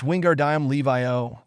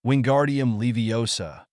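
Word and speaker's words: Wingardium Leviosa: out she said besides you're saying it wrong it's Wingard Levi OA not Levar make the gar nice and long you do it if you're so clever go on Ron snarled wingardium levosa Hermione's voice said in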